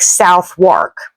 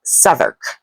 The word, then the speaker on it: Southwark: It looks to me like Southwark. They say this word more like southern.